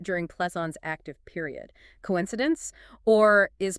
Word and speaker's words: Plethon: Well, there's the curious revival of Platonism in 15th century Florence, led by Plethoon. Plethon, okay. His name is phonetically quite similar to Plato, and also to Plotinus, the Neoplatonist philosopher.